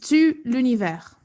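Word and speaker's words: Tout l'univers: John's Tears, and is it Tu l'univers? Tu l'univers. You don't pronounce. Univers. Yeah.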